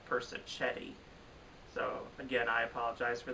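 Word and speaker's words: Persichetti: mag nominations video of i believed i pronounced bob persik Eddie's name is Bob person Chetty so again I apologize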